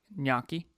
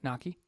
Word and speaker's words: gnocchi: Gnocchi. You know how to pronounce that? Gnocchi?